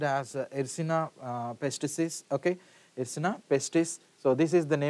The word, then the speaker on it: Yersinia pestis: So the name of the bacteria is pronounced as Yersinia pestis.